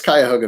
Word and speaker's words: Cuyahoga: And forgive me if I butcher the pronunciation. Is it Cuyahoga, or how do you say it? It's Cuyahoga Valley.